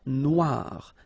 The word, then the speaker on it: noire: Then here, la mer Noire. Same thing here that we had previously. Final E not pronounced, okay? And then O-I, remember, wa, noir, noir.